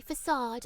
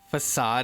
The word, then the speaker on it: facade: I hate that the way facade is spelled really irks me because we don't say it the way we say it with the way it looks.